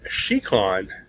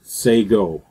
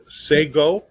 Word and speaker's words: Shekon: Shon it's actually pronounced SEO which is it's it comes from the Mohawk language and it's basically says greetings okay okay so say say go yeah say go I'm